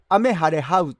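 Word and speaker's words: 雨晴はう: 感じのキャラクターです雨晴れハウと言いますこれ読み方ね漢字だけだったらどう読むのかなと思うようなことですけれども現役看護師と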